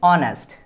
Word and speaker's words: honest: So how do we pronounce it? Honest. This is called honest. Honest boy. This is called honest boy. Honest boy, right? So pronunciation letter starts with O. Somehow this will be like that. Honest, right? So this letter is producing which sound? This letter is producing vowel sound, correct?